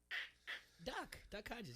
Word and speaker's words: Duck Hodges: How do you pronounce his name? Duck Hodges.